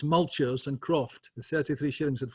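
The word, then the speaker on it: multure: of Tarradale with its mulchers and croft, 33 shillings and 4. Now, I've said the word mulcher. In Scotland, it's pronounced mutter, but a mutter was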